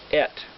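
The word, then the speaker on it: את: It's pronounced et, which sounds like it's spelled E-T.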